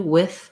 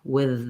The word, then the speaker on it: with: Although the word with, some people pronounce that with a voiceless th, like I do, with, without. Many people also pronounce that with a voiced th, with them, without, within. So either one is an acceptable, correct pronunciation for that sound.